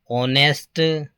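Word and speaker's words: honest: ऑनेस्ट, ऑनेस्ट मैन इसमें भी H silent है और ओ हिंदी का स्वर है, इसलिए एन का प्रयोग होगा।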